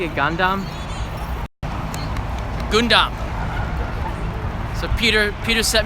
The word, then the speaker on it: Gundam: dumb thank you Peter good dumb was that pronouncing a Gundam Gundam so Peter Peter set me straight Thank